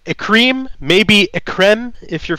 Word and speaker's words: Ecryme: on mildra um uh a cream is how it's pronounced um and that's actually always our first like thing that we have people come up is it a crime is it a crime is it ekrame um no it's a cream maybe